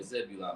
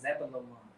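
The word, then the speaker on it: Zebulun: Yeah, Zebulon, but we say it wrong. We be saying Zabalawan, but it's Zebulon.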